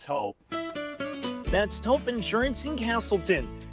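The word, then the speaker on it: Toop: No, I'm pretty sure it's Tope Insurance. Maybe Toupee. Could be Toupee. Yeah, I don't know. Or Taupe Insurance? Maybe? I don't think so. Say it right. That's T-O-O-P. That's Taupe. Oh, it's Taupe.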